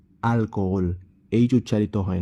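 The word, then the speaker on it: alcohol: আল ফোমরা আল ফোমরা carpet আলকালদে আলকালদে মেয়ার আলকোহল আলকোহল এই উচ্চারিত হয় না সাইলেন্ট থাকে মানে অ্যালকোহল ওখালা ওখালা অর্থাৎ আশা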